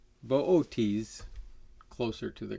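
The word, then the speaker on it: Boötes: i learned this constellation i heard it as booties from my astronomy instructor but it's booties closer to the correct pronunciation although the pronunciation varies all over the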